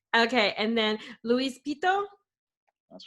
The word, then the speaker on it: Louis Pitto: I'm your host, Kim, and today I've got Adriano Balestrino, as I'm pronouncing that right? That's correct. Okay, and then Luis Pitto?